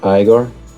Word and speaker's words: Igor: Actually, it's pronounced Igor.